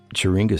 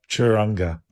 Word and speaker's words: Churinga: So, Mattman, how does that go? Churinga. Oh, right. So was definitely mispronouncing it.